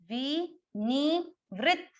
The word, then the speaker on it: विनिवृत्त: ये नहीं कि आप इसी त को पूरा कर दें, ये त भी उच्चारण आना चाहिए और इस त का उच्चारण भी आना चाहिए। इस त का उच्चारण व्री के साथ होगा, विनिवृत्त, और इसके उच्चारण में अ मिक्स करना पड़ेगा, विनिवृत्त, विनिवृत्त। ध्यान से सुने, विनिवृत्त।